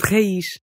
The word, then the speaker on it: raiz: But at the ends of words, if you see a Z, you're going to make an unvoiced SH sound. That gives you words like nariz and raiz.